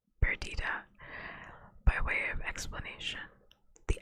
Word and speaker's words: Perdita: Emerith and Peridot. That's not how you say that name. Perdita. What? Perdita. That is how you say that. Perdita.